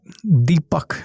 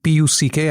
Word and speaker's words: Deepak: By the way, uh Deepak actually Puk. Actually, if you want the pronunciation right, it's like the Canadian puck, the ice hockey puck, and the Deepak is the English is the Indian way of pronouncing it.